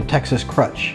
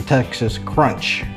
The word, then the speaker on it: Texas Crutch: So now we're gonna do what a lot of folks call the Texas Crutch, or as some people mispronounce it, the Texas Crunch.